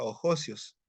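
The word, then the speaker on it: ἅγιος: designa como el santo que se pronuncia oios es decir el puro o el santo ojos es una frase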